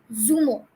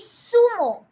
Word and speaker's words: zumo: Z is not pronounced as z, but it is pronounced as sa.